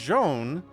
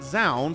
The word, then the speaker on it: Zoun: their name but like i've heard it told to me pretty effectively that it's joan but then tasteless calls it zound so that's you guys